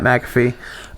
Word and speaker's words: McAfee: Pat McAfee. It's like the antivirus McAfee.